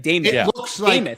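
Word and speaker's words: Demuth: She pronounces it. It's like Damoth.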